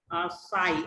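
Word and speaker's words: psi: देखिए जो mole fraction होता है इसको सिंबल साई एक्स की तरह होता है, ये साई से डिनोट करते हैं, पी साइलेंट हो जाता है।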